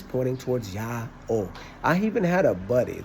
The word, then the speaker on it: IAO: w lowercase a lowercase w how do you pronounce that and he said yeah or I said not Yahoo he said nope and I said no I said no yeah oh if it was ooh it would be this